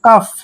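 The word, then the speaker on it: cough: हो next word देखिए सीओ जब भी सी के बाद ओ आता है तो सी का उच्चारण क करते हैं ठीक है सी को हमने क पढ़ना है देखिए और यहां पर ओ यू जी एच का उच्चारण सारे का उच्चारण एफ करेंगे यानी फ फ करेंगे कफ कफ होता है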